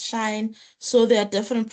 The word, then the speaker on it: sinh: Sine h or sinh, or hyperbolic function of a, what's this? Of x, or pronounced as shine.